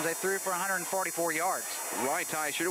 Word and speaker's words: Reitz: Reitz, one of the great mispronunciations of 1992. Doug called him Ridashir.